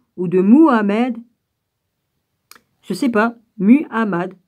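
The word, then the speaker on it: Muhammad: de mohamed se séparent mu hamad on se prononce comme ça en portés par gabriel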